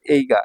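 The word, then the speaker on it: 映画: তো এই যে এই এটার উচ্চারণ হচ্ছে এই আর এটার উচ্চারণ হচ্ছে গা। দুইটা মিলে হয়ে গেল এই গা।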